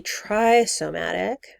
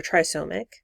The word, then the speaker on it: trisomic: or you could be trisomatic or trisomic um sorry it's monosomic and trisomic i was just pronouncing those words wrong you could be trisomic